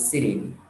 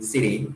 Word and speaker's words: city: Biasanya Miss Diska saya dengar bisa bunyi Siri, ya. Tapi kadang bunyinya City, nggak boleh. Bunyinya Siri, ya Siri aja, nggak boleh City, nggak boleh. Siri, ya, Siri. Bacanya cepat, Siri.